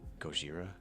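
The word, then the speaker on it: Gojira: wait wait wait is it racist to say goira no no because that's how it's it's said that is how it's pronounced um the if you're going to a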